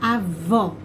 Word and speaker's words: avó: na história da avó, como é aberto e como eu preciso reforçar essa sílaba, acento agudo. Avô, como é fechado e eu preciso reforçar essa sílaba, senão fica avo, né? Eu uso o acento circunflexo.